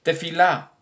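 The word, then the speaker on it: תפילה: La palabra plegaria que los judíos mencionan, más en hebreo, que se pronuncia como tefilá, una oración, una plegaria.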